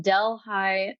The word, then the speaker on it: Delhi: town again it's in delh high New York it's spelled Deli it's actually named after Deli India so I love that